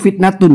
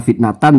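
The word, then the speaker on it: فِتْنَةُ: Nah, ini membacanya itu fitnatun ya. Ya walaupun membaca fitnatan juga boleh ya. Sekarang kita baca fitnatun ya.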